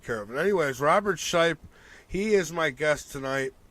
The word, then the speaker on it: Shiepe: I believe it's pronounced Shiepe.